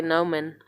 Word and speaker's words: Noman: Noman, I want to say Noman because of Norman. Like, I don't know. But Noman is the way I think it is properly pronounced.